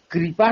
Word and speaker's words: कृपा: उच्चारण करते ही नहीं जब कृपा का उच्चारण होगा तो ऋषि वाला ऋ का उच्चारण होगा और ऋषि वाले ऋ का उच्चारण मुर्धा से होता है अच्छा ी ना